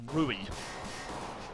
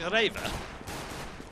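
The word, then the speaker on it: REWE: It's like Jason said to me the other day, what's that supermarket called? Rui. And I said, do you mean Raver? See? It's all in the pronunciation.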